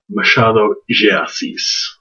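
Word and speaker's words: Machado de Assis: heard of before and they actually pronounce his name machado giacis almost like it's j e instead of d e um maybe that's because it's brazilian maybe that's because it's portuguese instead of spanish anyway um dam casimuro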